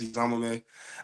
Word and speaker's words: Eziomume: the my name Isam if y'all don't know how to pronounce my last name it's Isam I already know the